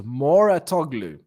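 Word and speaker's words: Mouratoglou: Okay, so the pronunciation is Moratoglu.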